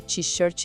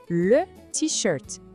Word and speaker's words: t-shirt: Porque vem do inglês, só que a pronúncia é toda francesa. Não é para falar t-shirt, não. O jeito certo é le t-shirt.